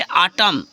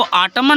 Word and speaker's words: autumn: अब नेक्स्ट है जैसे आटम, AUTUMN, इसको आटमन नहीं पढ़ना है, ए हो गया आटम, यानी क्या हो गया साइलेंट हो गया।